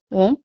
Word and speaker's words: ओम: ओम 3 ध्वनि से बना है, अ, उ और म।